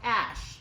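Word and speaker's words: Æ: intelligence and in its yeah and it also a I like artificial also the word love in a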